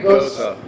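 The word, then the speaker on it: Gose: Gosa. Gosa. So it's like Rosa with a G.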